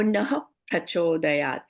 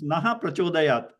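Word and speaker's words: नः प्रचोदयात्: Now we will cover this in more detail when we get into Visarga Sandhi, because this is naha prachodayat.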